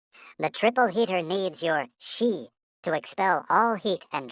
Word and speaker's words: Xi: the spleen and and X I pronounced like she which connects the whole